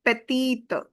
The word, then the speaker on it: petite: And the pronunciation will become petite. Because the e is silent and it will give its whole sound to previous t.